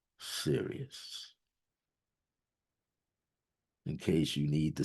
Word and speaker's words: Sirius: the heavens and seeing Sirius as some of us pronounce it Cyrus in its constellation the